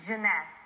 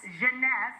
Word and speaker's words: Jeunesse: How do you pronounce it? Jeunesse. Jeunesse.